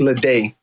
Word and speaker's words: Ledet: yes let's do it so my last name is is pronounced leday because the et in french is pronounced a right so it's lit a